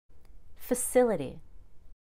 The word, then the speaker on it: facility: t it's just ability facility notice how the fa is not pronounced fat it's just very quick and easy low energy save your